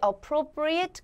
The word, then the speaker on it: appropriate: 자리에 appropriate이 나왔을 때 여기는 ate 발음은 appropriate이라고 발음이 되어집니다. appropriate이라고 발음이 되는 경우는 이 품사가 동사일 때 그렇습니다. 근데 여기는 동사 품사가 아니니까 appropriate.